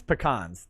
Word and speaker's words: pecan: even i'm from texas uh it's it's it's pecans that's that's how it that's how you pronounce it it's pecan uh if i say